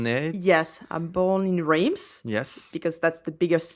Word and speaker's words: Reims: What's the true correct French way to say it? In French, it's Reims. Reims. Yes. Okay. Reims. I know it's quite hard to say.